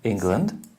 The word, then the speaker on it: England: And here we have England. Mm-hmm. It's also an E.